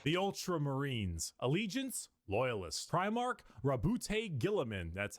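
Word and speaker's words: Roboute Guilliman: Primarch, Rabute Gilliman. That's how it's said. Robo Girly Man. No, it's pronounced Robo Girly Man.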